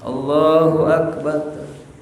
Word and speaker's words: Allahu Akbar: Takbirnya cuman pendek, la tumaddu wa la tumattatu. Ya, bal yaqulu mudrajah musri'an. Nah, akan tetapi dibacanya apa? Musri, cepet. Allahu Akbar.